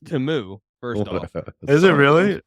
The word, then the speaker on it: Temu: And it's pronounced Temu.